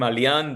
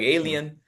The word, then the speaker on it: Alian: Very few people in school could pronounce my name, Alian. They were like alien.